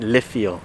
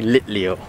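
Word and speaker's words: Litleo: the list we have i keep pronouncing it lithium it's actually lit leo anyway evolves into pi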